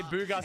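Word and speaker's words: Bugha: Booga spelled like his actual name though. B U G H A B.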